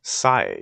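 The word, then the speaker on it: Sae: Sai. You're Sai-san's younger... Yeah, it's actually pronounced Sai.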